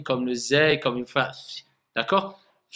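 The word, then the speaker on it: ز: Bout de la langue avec ce qui est au-dessus des incisives inférieures. Donc, vous voyez, la langue, elle va se mettre au niveau des incisives inférieures. Et pas z, et pas th.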